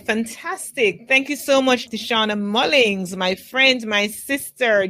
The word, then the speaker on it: Tishauna: But let me just spell it quickly. Tishauna, Tishauna.